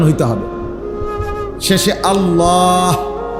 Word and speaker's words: আল্লাহ: উচ্চারণ হইতে হবে শেষে আল্লাহ শেষে একটা গোল হা আছে ছোট হা আল্লাহ মানে আল্লাহু তো হুটারে